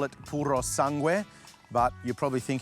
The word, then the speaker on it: Purosangue: In Italian, they call it Puro Sangu, but you're probably thinking I sound like an idiot when I say it like that, but that is how it's pronounced.